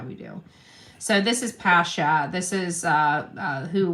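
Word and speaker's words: Passha: P A S S H A. I think it's pronounced pronounced Pasha.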